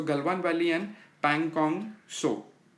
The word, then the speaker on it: Pangong Tso: सो Galwan valley and पैंगोंग सो, टी is silent.